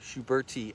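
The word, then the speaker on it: schubertii: allium Shubert TI yeah pronounced those two eyes separately Schubert II I pronounced the first one like an E second one like an hai yes cool taking a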